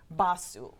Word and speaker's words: Basu: Basu. Basu. Accent on the first syllable.